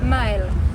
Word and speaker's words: Mael: Mael.